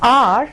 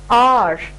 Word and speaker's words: hour: So R starts with a consonantal letter H, but still it is R. R sound is a vowel sound as you have the middle sound in car, right?